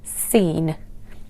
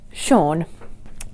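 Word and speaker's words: Sean: majority of my childhood thought that this was pronounced as scene scene so you know the actor sha bean I thought he was seen Bean but yes it should be pronounced sha the next one now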